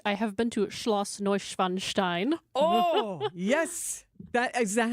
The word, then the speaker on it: Neuschwanstein: Indeed, if we're going to get real German with it, I have been to Schloss Neuschwanstein.